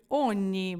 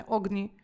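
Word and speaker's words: ogni: слово оні До речі оні Бачите як вимовляється не огні а після нього йде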